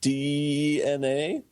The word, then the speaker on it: DeNA: But it's that Nintendo signed a contract with DNA, but it's spelled D-E-N-A.